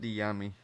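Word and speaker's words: Dyami: It's pronounced Diami.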